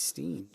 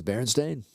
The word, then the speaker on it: Berenstain: Well, I feel like some of the books that we have says Steen. S-T-E-I-N, right? Nope. It says Berenstain. Stain.